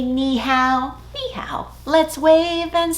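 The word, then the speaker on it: 你好: Ni hao. Will you say it with me? Ni hao. Nicely done. Let's put it together in a song. Let's wave and say ni hao, ni hao.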